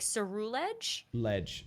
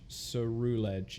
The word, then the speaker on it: Ceruledge: Like Cerulean, so like Cerulege. Ceruledge. Yeah, Ceruledge makes the most sense. I think you're right. Yeah, I think like Cerulean and then Ledge. Cerulege.